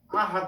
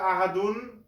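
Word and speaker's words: أحد: আমরা যদি থামি এখানে তাহলে কি করতে হবে আহাদ বলতে হবে যদি থামি আর না থামে যদি পুরাটা একসাথে পড়ি তাহলে আহাদুন বলা যেতে পারে এখন এখানে ওয়াকফ আছে আমরা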